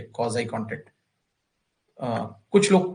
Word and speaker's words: quasi: Contract, देखिए ये रहा आपका 10वां टॉपिक है, कॉजाई कॉन्ट्रैक्ट। कुछ लोग क्वासी कॉन्ट्रैक्ट भी कह देते हैं इसको, तो जो भी आप समझें, है ना, प्रोनाउंस अपने आप कर लीजिएगा। स्पेलिंग का ध्यान रखिए, QUASI, क्वाजाई कॉन्ट्रैक्ट।